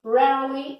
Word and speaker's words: rarely: Então, a pronúncia dessas palavras, como eu já disse para vocês, often, não é often, often, e rarely, rarely, alright?